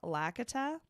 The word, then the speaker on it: Lakitu: it's actually pronounced Lakitu. Lakitu. Oh. It Not was two. it's Okay. Lakitu because it stands for my species' favorite things: Lambrusco, Kit Kats, and Tums.